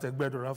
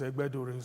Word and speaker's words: Egbedore: I keep emphasizing on that Egbedore for my colleagues who say it's Egbedore. There's nothing like that. And that's my own local government of the 4. So people should pronounce it well.